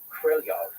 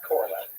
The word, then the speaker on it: Korolev: And from listening to native speakers, it's closer to Krylyov than it is Korolev. Yeah, definitely. Sergei Pavlovich Korolev.